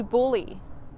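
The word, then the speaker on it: bullae: so auditory and then bully is spelled b-u-l-l-a-e i like that there's a bublia um so one bully is called a bulla but both of them together are called the auditory bully and this helps us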